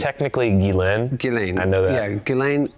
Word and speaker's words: Ghislaine: Is when Ghislaine, how do you pronounce it? It's technically Ghislaine.